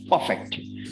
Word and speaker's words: perfect: is just perfect perfect so again you can see r is before a consonant and f is a consonant so it is perfect it's not perfect it